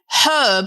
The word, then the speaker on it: herb: If you say herb, they think you're. Thank you. That's better. Let's move on. Backwards. Oh, do they? Oh, because you pronounce all the letters in Herbert. words. Okay. And Richard, by the way, the word herb starts with H. H.